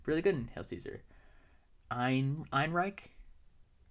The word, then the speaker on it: Ehrenreich: It was, and stay with me here, Alden Einenrick. I don't know how to pronounce it. It's the dude from Hail Caesar, the cowboy, who was really good in Hail Caesar. Ehrenreich? Ehrenreich.